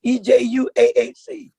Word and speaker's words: EJUAAC: That acronym is EJUAAC. And that's what Jack is pronouncing Ejuaac.